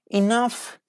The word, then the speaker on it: enough: not pronouncing the words but sometimes they are pronounced like F yes it is true for example tough rough rough decision tough tasks enough love yes they are